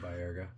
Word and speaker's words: Baerga: Yeah, Baerga.